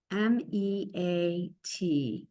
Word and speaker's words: meat: M-E-A-T. Meat. And you don't hear the A, you hear a long E.